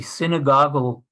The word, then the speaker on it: synagogal: a very striking example is that the the synagogal that's the right pronunciation uh organization of the reform movement used